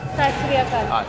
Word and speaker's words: Sat Sri Akal: Sat Sri Akal. South City Akal.